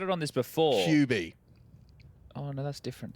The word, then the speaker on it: QB: How do you say QB. it? QB. Like a cube, as opposed to QB.